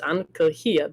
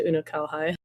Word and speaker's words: Unukalhai: It's pronounced Ankalhia, but nobody can pronounce that, and English has like bastardized it into Unukalhai.